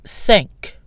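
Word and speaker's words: cinq: are several exceptions here the key with the end of the number five is pronounced for example sank sank the Q ending itself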